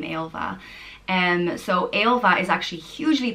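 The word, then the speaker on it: Ailbhe: In the medieval times, Ailbe commonly had a H in it, but these days, if there's a H in it, people generally think it's a girl's name, Ailva.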